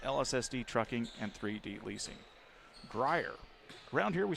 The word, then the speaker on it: Grier: Reese Reese Grier. We've been saying it wrong the whole time, guys. Grier is how it's pronounced.